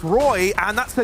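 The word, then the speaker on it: roeJ: Reg? But no, it's Roy, and that's a name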